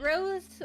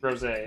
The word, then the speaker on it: rosé: Is it rose or is it rosé? Rosé is how it's pronounced.